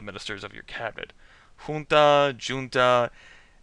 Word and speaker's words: junta: Junta, junta. I mean, that's a Spanish word, but it's kind of been anglicized enough that I think either pronunciation's acceptable at this point, but I'm going to